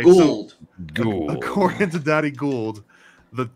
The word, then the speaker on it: Gould: call him Baron no his name say it right damn it his name is Daddy ghoul okay gold according to Daddy Gould